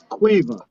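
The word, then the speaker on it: Caoimhe: a great niece and her name's cueva and uh she lives in ireland right and uh it's a very traditional gaelic name but when to spell it it's spelled c o c a o m i h e it doesn't make sense i still i still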